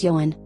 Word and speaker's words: Johanne: Her name Joanne, which is pronounced as Johann, was coined by her